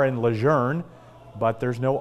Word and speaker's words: Lejeune: sorry comment on loss are we meeting at Camp Lejeune next week it's Camp Luzerne marine and this meeting is